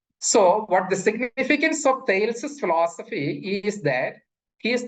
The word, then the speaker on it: Thales: Prominent among them, among the pre-Socratic philosophers is Thales. He's also, some pronounce it as Thales, lived sometime around 545 BC.